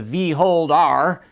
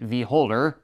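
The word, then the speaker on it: Vholdr: away when I sneeze they call this the vold r although they'd probably prefer I pronounce it volder as in beauty is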